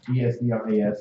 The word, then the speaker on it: Esdras: Ezra and Esdras are the same person. One is pronounced in the Hebrew, one is pronounced from a Greek translation.